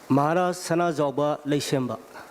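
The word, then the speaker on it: Maharaja Sanajaoba Leishemba: How do you pronounce, please? Maharaj Sana Joba Leishemba. Maharaja Sanaba Lashamba.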